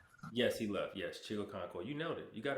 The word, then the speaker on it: Chigoziem Okonkwo: Chigoziem Okonkwo. Oh, oh, well, he's not there anymore. Yeah, I was saying he left. Yes, he left. Yes, Chigoziem Okonkwo.